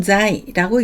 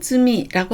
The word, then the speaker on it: 罪: 음독은 자이라고 읽습니다. 죄악을 자이아크라고 하고요. 범죄를 한자이라고 합니다. 무죄를 무자이라고 하고요. 유죄를 길게 읽으셔서 유자이라고 읽으시면 됩니다. 훈독은 쯔미라고 합니다.